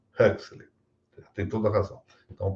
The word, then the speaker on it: Huxley: Eu pronunciei a maneira brasileira, como sempre ouvi, por sinal, Aldous Huxley. E ela observou bem que não é uma coisa nem outra. É Aldous Huxley.